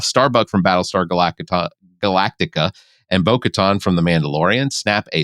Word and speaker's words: Bo-Katan: It is Bo-Katan. Bo-Katan, whatever. You put it in. You make it sound like a beach resort. It's Bo-Katan.